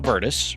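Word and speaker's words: Virtus: I think they're talking about Verdice, which is spelled V I R T U S.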